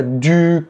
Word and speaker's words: du: La première typique, c'est le “u” que les étudiants prononcent : “ou”. Non. Je vous rappelle la lettre “u” se prononce “u”, comme dans le : “tu”. Comme : je bois “du” café. Du.